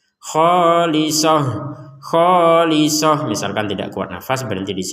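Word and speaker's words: خالصة: Nah, misalkan kita membacanya berhentinya di sini, maka ini akan dibaca sebagai huruf H untuk taknya. Khalisoh.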